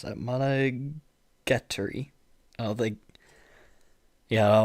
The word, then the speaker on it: Monogatari: Monogat, how do you pronounce that? Monogatari.